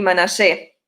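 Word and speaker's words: Menashe: No sé si ustedes se acuerdan cómo se dice en hebreo, y como muchos judíos también les dicen a Efraín y Manasés, le dicen, ¿se acuerdan? Efraín y Manashe.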